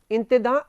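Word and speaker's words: intendants: इनको अंग्रेजी में तो लिखते हैं इंटेंडेंट्स, इंटेंडेंट एंड देन प्लूरल हो गया इंटेंडेंट्स, लेकिन फ्रेंच उच्चारण इसका जो है वो है इंतेदा। आपको अगर ध्यान हो तो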